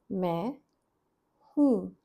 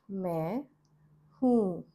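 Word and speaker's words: मैं हूँ: I am is may whom may whom. The n sound here in these two words is nasal is a very subtle n sound. Not men but just me whom. This is how it is written in the script.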